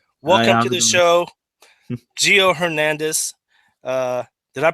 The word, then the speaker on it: Hernandez: Welcome to the show, Gio Hernandez. Did I pronounce that right? Is it Hernandez or Fernandez? Hernandez is correct, sir.